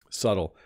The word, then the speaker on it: subtle: very very nice gift subtle so this has a silent B if you notice you don't pronounce the b subtle refers to when